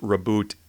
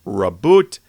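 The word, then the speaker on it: Roboute: world starts to implode some said it should be pronounced raboot a others said it was pronounced raboot which naturally led into robot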